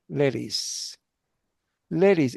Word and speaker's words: lettuce: Lettuce. Ladies. It sounds like ladies, but it is not ladies.